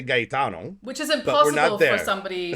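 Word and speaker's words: Gaetano: So in Italian and in like Spanish, you pronounce each vowel. So it's gayano which I which I which they pronounce it gayano.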